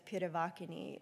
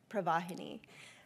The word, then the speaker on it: Pravahini: It looks like it says Piravakini instead of the way that it's actually produced, which is, or pronounced, which is Pravahini.